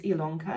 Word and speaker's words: Ilonka: welcome to stitchy lanka my name is ilongka yes it's spelled with an eye but pronounced with an